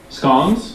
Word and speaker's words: scone: I had scones sorry scon I've heard in the UK you can pronounce it scones or scon and it's a regional name is that right please